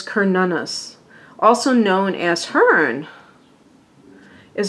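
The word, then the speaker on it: Cernunnos: that okay the print the correct pronunciation is this is Celtic apparently is Kern Una's also known as Hearn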